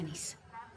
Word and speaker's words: Nice: Se pronuncia Nice.